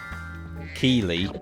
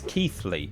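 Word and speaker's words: Keighley: Keely, I do know how to say it. Is one that catches people out too, says Amateur Gaming. Yeah, that's Keithley, would you believe?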